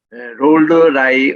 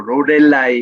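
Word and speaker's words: Loreley: 우리가 잘 알려진 롤러라이 언덕이다. 우리는 한국말로 로렐라이 이렇게 되는데 현지 발음은 롤러라이입니다.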